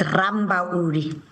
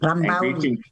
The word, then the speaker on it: Rambauli: Am I saying it right? Close enough? No. It's Rambauli. Okay, thank you. Rambauli.